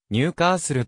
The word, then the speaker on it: ニューカッスル: れることもあるなお地元の発音ではニューカーするとなるサバーブ式 of ニューカッスル